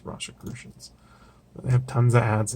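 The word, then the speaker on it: Rosicrucians: I guess Rose Rosicrucian z-- that's how it's pronounced Rasha crucians they have tons of ads in these I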